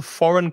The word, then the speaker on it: foreign: And be careful of the pronunciation of foreign, because the spelling is strange.